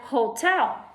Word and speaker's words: hotel: I have the word hotel Hotel when I stop on the first one ho that's a long old sound so that makes it